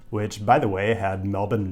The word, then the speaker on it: Melbourne: Yes, I'm talking about Melbourne, Australia, and I will be pronouncing it Melbourne, which I'm assured is the correct pronunciation.